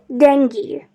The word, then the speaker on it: dengue: So it is pronounced as dengue.